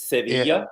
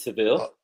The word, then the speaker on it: Sevilla: But well, in Spanish it's Sevilla, but it's Seville.